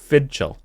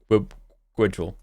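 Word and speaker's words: fidchell: It's pronounced Fidchel, which obviously it's pronounced Fidchel. Obviously, right. Looking at it, just like I'm looking. Understand? Yeah, it's pronounced Fidchel. It's Irish, or in Welsh it's pronounced Gwydjul. Yeah, Gwydjul.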